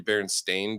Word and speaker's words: Berenstain: one was huge yeah berenstein bears it's actually berenstain bears the way the way it's spelled but that that's like